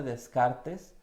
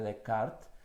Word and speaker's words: Descartes: llama el error de descartes o al menos así lo leemos mucho en español o en latinoamérica pero entre a la manera correcta de pronunciarlo es el error de de cart y bueno según antonio